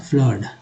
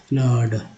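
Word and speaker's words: flood: फ्लड में जो है डबल ओ में यू का उच्चारण, डबल ओ का उच्चारण आ के रूप में। जैसे अब सोचिए डबल ओ का मतलब आ कैसे हो सकता है, फ्लड, वन फ्लड, फ्लड।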